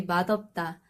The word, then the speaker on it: 맛없다: The standard pronunciation of this is 맛있다, and this one should be 맛없다.